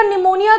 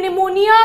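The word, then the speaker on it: pneumonia: होता है सीडी बेटा निमोनिया का पी क्यों साइलेंट होता है क्योंकि बेटा इंग्लिश के ज्यादातर वर्ड जो है ना उनका ओरिजिन ग्रीक है ठीक है निमोनिया का पी साइलेंट होता है और भी बहुत सारे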